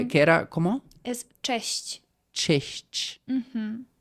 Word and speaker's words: cześć: Es cześć. Cześć. Ujú. O sea, te... Es CZ y lo Ah, pronunciamos claro.